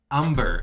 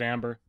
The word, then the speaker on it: umber: burnt amber shoe polish umber umber my apologies if you never watched bob ross what is wrong with you josh's accent he's got my uh my childhood accent he pronounces it amber uh no my childhood